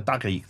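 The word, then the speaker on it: تاريخ: And then the last genre, the tarikh.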